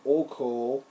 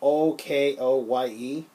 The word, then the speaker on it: Okoye: Then there's Okoye, or Oko. I'm sorry to pronounce Oko. It's Okoye.